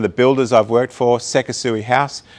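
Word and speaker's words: Sekisui House: builders i've worked for seka sui house the japanese always pronounced it sexy house uh hutchison builders and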